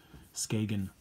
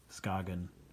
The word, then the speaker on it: Skagen: can be told that this can be pronounced three different ways and they're all are ok Skagen Scoggin or the sky yen with a silent G and mostly because I